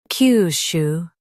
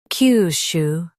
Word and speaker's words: Kyushu: Today we will learn how to pronounce the word shown on the screen. KYUSHU. Both US and UK have the same pronunciation of this word. KYUSHU.